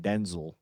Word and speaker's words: Denzel: what I learned recently by the way that he pronounces his own name Denzel.